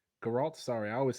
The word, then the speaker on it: Geralt: The Witcher no the one oh The Witcher Gerald geralt sorry I always say his name is geralt